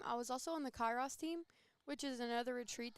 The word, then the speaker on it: Kairos: So the Kyrie team, did I pronounce that correctly? Kairos.